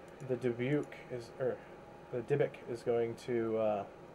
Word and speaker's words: dybbuk: a look he's going to go for the dubuque again the dybbuk okay that's how you say it the wise